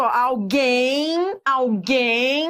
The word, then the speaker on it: alguém: Alguém, quando você pronuncia, realmente faz sentido. Esse M é como se fosse um I, alguém.